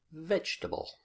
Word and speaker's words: vegetable: word stress is vegetable vegetable vegetable and you can see that I've got the stress marked on the first syllable certificate certificate so second